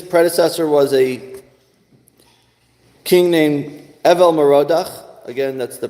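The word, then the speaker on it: Evil-Merodach: he destroyed then he his predecessor was a King named Evel moroda again that's the pronunciation he's a Babylonian King belshazzar was the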